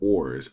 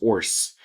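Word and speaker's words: orz: The phrase has no set pronunciation. Some people pronounce it orars, others Orce, and others call it the depression slump.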